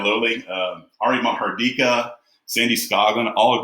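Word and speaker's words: Loli: I've been pronouncing it Lolly, but yeah, Lowley.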